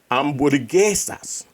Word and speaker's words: hamburguesas: It's just spelled different, just pronounced different. It's hamburguesas. Hamburguesas.